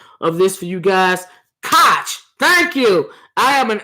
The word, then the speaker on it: Koch: Oh, yeah, I know it's pronounced Koch brothers, but I don't even like to say it like that.